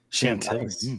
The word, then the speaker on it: Chantilly: Chantilly. I wasn't sure how to been pronounce to that.